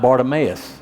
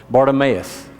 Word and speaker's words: Bartimaeus: with people ok went a little bit about Bartimaeus that's how you say his name Bart if it makes sense Bartimaeus and Bartimaeus his his name actually means honor